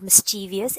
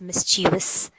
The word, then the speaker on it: mischievous: It's not mischievous, it's mischievous.